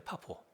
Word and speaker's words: 파포: 바울의 원래 고양이 자 그런데 바보 발음이 좀 그렇네요 바보 원어 식으로 하면 포라고 하시면 돼 파포 포스포 근데 그곳에서 바